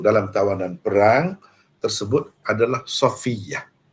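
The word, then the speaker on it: Safiyyah: kawanan perang tersebut adalah Safiah itulah dari segi sebutan yang Betulnya orang kita sekarang ni nak nama tu macam ala-ala orang putih inggeris ejaannya pun macam lain dan sebutnya pun macam lain tapi yang Betulnya yang inilah Safiah bukan Sofia dan sebagainya walaupun maknanya pun bagus juga tapi itu bukan bahasa Arab Kalau bahasa Arab sebutkannya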